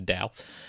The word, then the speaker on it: Tao: I'll pronounce it correctly, the Tao.